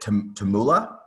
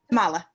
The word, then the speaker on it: Tamala: But can I just, is it Tamula? Tamala. Tamala, sorry.